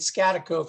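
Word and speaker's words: Schaghticoke: in saint john's roman catholic um cemetery and scatter coke and i'll spell it it's s c h a g h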